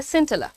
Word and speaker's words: scintilla: इसका प्रोनाउंसिएशन है सिंटिला।